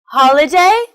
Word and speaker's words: holiday: Motorbike, underground, holiday, family. They're all 3-syllable words with the stress on the first syllable.